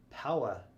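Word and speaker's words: paua: yes that is blue power shell it's spelled p-a-u-a and it's said like i got the power is that from uh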